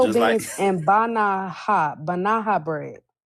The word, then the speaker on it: banaha: With It's spelled pinto just like- beans and banaha bread. Not banana bread, banaha. Banaha bread.